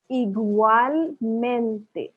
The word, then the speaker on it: igualmente: igualmente. जैसे मैंने बताया था पहले भी कि हर वावल को प्रोनाउंस करते हैं स्पेनिश में. तो igualmente. ये जो यू है ये ऊ है.